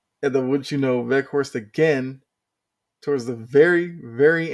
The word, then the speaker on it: Weghorst: And it was a Weghorst, I believe is how you pronounce it. It's like W, but pronounced with V. So Weghorst gets the scoring started